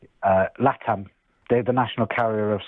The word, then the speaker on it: LATAM: Uh Latam. They're the national carrier of South America. Latam Airlines. How do you say it? Latin. Latam. So it's L A T- M. It stands for Latin America.